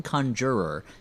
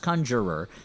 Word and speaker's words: Conjurer: And for help she's going to go to one Simon Conjurer who's kind of a long haired guy who it's pronounced Conjurer and he has kind of a New York accent.